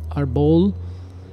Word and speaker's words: Árbol: call it the um Arbol so weird horrible I don't know why but my brain hates that interesting well it's it potentially is because the accent is on the first syllable audible audible all right